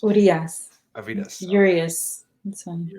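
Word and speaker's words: Urías: Arias? Is it Arias? Urias.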